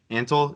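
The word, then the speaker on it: Antle: of treating their employees so poorly and doc antal is how you pronounce it yeah worst I mean oh my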